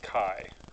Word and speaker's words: chi: test will tell us it's called it's pronounced Chi it should be Kailai